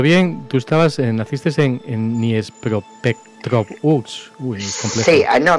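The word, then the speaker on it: Дніпропетровськ: No sé si se pronuncia bien, tú estabas, naciste en Dniepropetrovsk. Sí, no, mira, es fácil, no. El río se llama Dnieper. Y hay un revolucionario que se llama Petrovsky. Entonces se juntas Dnieper, Petrovsky.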